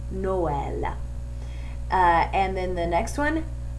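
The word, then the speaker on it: Noël: the word for Christmas if those marks weren't there it would be pronounced null but they don't want that they want two distinct vowels so they put the trema over the E and the word becomes Noel and then the next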